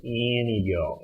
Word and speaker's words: Antigo: How would you pronounce A-N-T-I-G-O? Antigo. Antigo, thank you. The natives in Antigo pronounce it Anigo.